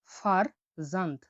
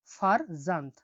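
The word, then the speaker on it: farzand: এফ এর উচ্চারণ হয়ে থাকে ফ এর মতো, উদাহরণ আমরা দেখছি দেখুন, ফার জান্ত। ফার জান্ত। ফার জান, উচ্চারণটা দেখুন ফারজান্ত।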